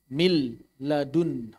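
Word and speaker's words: مِن لَدُنْهُ: Idgham kamil adalah ketika huruf pertama menghilang 100%. Hilang 100%. Misalnya, "min" ditambah "ladun". Berikut contohnya: min ladunhu. Jadi di sini, suara biarawati benar-benar hilang 100%. Bagaimana cara kamu membacanya? “Milladun”, ini disebut idgham kamil.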